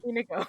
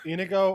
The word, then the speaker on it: Inigo: Inigo. Inigo or Inigo Inigo. are fine. 3 syllables.